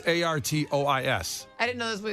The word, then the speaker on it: Artois: That's how it's pronounced? It's Artois.